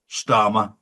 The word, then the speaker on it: Starmer: And of course, Starmer rhymes with karma.